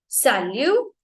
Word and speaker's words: salut: okay now it's correct सलू ता सयो सलता स सालु तास सो इन फ्रेंच लैंग्वेज शन साउंड नो शन साउंड इज सियो सियो ओके सलता स्य एंड सलू में हमारा टी साइलेंट रहेगा सो हम लोग पहले